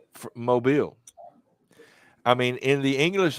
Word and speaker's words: Mobile: in the english language the word m-o-b-i-l-e is mobile but in this city it's mobile and if you're from out of state or out of there and you come in and you say i'm in mobile alabama you will get corrected i'll i'll correct someone